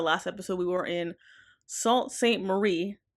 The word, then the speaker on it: Sault Ste. Marie: The last episode we were in Sault Ste. Marie.